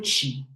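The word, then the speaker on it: qi: les méridiens et le chi. Chi, on le dit ça, on prononce ça en chinois, ki en japonais.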